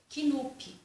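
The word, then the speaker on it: Knulp: sou devolvi esse livro o livro se chama knup mas eu acredito que você fala só no fim né não sei mas se escreve kenup com k mudo e eu também gostei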